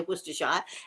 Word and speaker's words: Worcestershire: crab or something like that and it needs worcester sauce as the americans would say worcestershire it needs worcestershire and um and i forgot